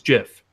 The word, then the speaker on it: GIF: the peanut butter where you say it is jiff that's the way the guy says it's the